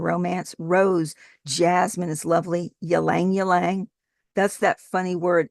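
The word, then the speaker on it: ylang-ylang: rose, jasmine is lovely, yang yang. That's that funny word. It's y l a n g. Y l a n g is pronounced yang yang.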